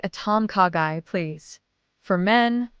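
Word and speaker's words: ต้มข่าไก่: Tom kagai in Thai. It's a gently flavored chicken soup with coconut aroma. Ordering phrase, I'd like a Tomkagai, please.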